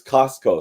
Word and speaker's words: Costco: Yeah, it's Costco. Sorry.